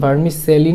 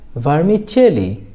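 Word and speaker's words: vermicelli: সেমাই এর ইংরেজি হলো ভার্মিচেলি, ভিইআর ভার এম আই মি ভার্মি সিই ডবল এল আই চেলি ভার্মিচেলি মানে হলো সেমাই। এটার উচ্চারণ ভার্মিচেলি না, এটার উচ্চারণ হলো ভার্মিচেলি।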